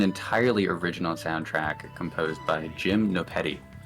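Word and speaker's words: Gymnopédie: Like you can find the music yourself on YouTube too if you look up Jim Nopetti. That is Jim Nopedie. There's like an accent on the E, the first E, I believe.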